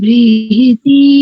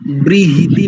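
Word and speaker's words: बृहती: ॐ शन्नो धाता समुधर्ता नो अस्तु शन्ना उरुची भवतु स्वधाभिः शन्रोदसी बृहति शन्नो अद्रिः शन्नो देवानां सुहवानि सन्तु। बहुत बढ़िया उच्चारण। एक स्थान पर देखो, ब्रीहिति नहीं करेंगे, ठीक है माता जी?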